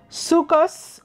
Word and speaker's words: Sukkot: Sukkot, commonly translated as the Feast of Tabernacles or the Feast of Ingathering. Traditional Ashkenazi pronunciation, Sukkos or Sukkos, literally means the Feast